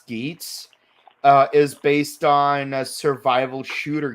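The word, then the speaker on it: Geats: Okay, so according to press release so far, Kamen Rider Skits, and yes, it is pronounced Skits, is based on survival shooter games, virtual survivor shooter games.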